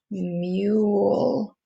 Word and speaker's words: mule: hear that e but i can hear the u flute so that's my long u mule mule you i can hear